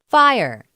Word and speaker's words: FHIR: HL7 Fast Healthcare Interoperable Resource is abbreviated FHIR and is pronounced FIRE.